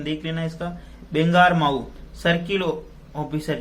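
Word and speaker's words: बांगरमऊ: बेंगामारू circle officer जो वहां के बेंगामारू एक जगह प्रोनाउंसिएशन देख लेना इसका, बेंगारमाऊ सर्किल ऑफिसर जो वहां के जो वृत्त अधिकारी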